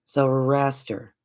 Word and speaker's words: Zoroaster: Zoroaster. Zoroaster. I never pronounce it right, and I don't know why.